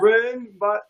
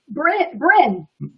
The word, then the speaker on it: Bryn: Bren. I can't know if I pronounced that right. Bryn. Just Bryn.